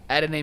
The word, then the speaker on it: Adonai: I think his first name is Adonye. I don't want to mispronounce it. Oh, no, Adonai Mitchell. How do you say it? Adonai Mitchell.